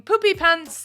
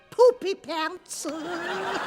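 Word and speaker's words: Poopypants: for his silly name am i pronouncing it right poopy pants more or less except the emphasis is on the poop why are you laughing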